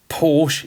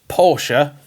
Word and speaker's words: Porsche: to see that go up here in short Porsche is basically how most people in the UK